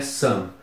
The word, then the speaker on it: some: s o m e e se pronuncia Sam e o Sam é